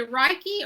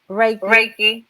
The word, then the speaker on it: Reiki: okay I'm trying to figure out how you pronounce that last two days um she it how do you say rocky or Reiki Reiki Reiki okay she um practices Reiki and her